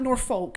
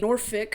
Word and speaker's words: Norfolk: down and take notes the wrong pronunciation Norfolk no it's not Norfolk you can say noric or nor I have a bit of a tide water accent sometimes I pronounce it like noic and it makes me sound